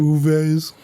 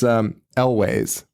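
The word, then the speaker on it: Elwes: I think it's a better pronunciation. Uves. No. It's Elways.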